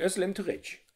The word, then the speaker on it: Özlem Türeci: wird das wohl ausgesprochen das geht bleibt stumm wenn es so einen kleinen bogen oben drauf hat dass es hat so einen kringel darunter dann ist es wie das z ist ein weiches eso das c wird wie die ausgesprochen nur ein öl ist auch im türkischen ein öl wie in österreich die geschichte von uhr